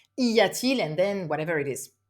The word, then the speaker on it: y a-t-il: Y a-t-il is a bit more difficult because you need to remember the inversion maybe, and also this T in the middle that you need to have a smoother pronunciation.